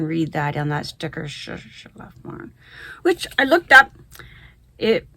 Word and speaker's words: Schlafmohn: And the colorway, I'm going to butcher the German, Schlafmorn. Let's see if you can read that on that sticker, Schlafmorn, which I looked up.